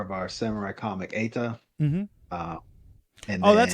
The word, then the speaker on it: Eta: It's a lowercase TA, so it's not an acronym at all.